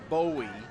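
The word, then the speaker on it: Bohui: yeah you imagine Patrick it's spelled B o hu I and I guess officially it's pronounced bowie so apologize were saying it wrong earlier so Patrick Bowie dough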